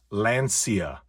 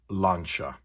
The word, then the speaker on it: Lancia: my favorite colors and no it is not pronounced lancia it is pronounced launcher now don't get me